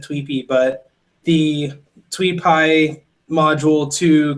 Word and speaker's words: Tweepy: The general idea was using the is it TweetPy or Tweepy? I don't know how most people pronounce it. I would pronounce it Tweepy, but the TweetPy module